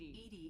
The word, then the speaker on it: EDI: are you named Ed Ed is the phonetic pronunciation of Eed that is an where